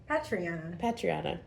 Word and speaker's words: Patriana: Patriana.